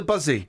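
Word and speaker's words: Buszy: The Buzzy. Eh? The Buzzy. The group helped... It's spelled B-U-S-Z-Y.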